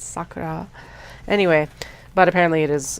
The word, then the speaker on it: Sakura: But my God, they mispronounce her name constantly. Sakura. It's not Sakura. It's Sakura.